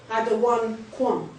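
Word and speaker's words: אדניקם: How you say it in the Hebrew is what? Adawan Kwam.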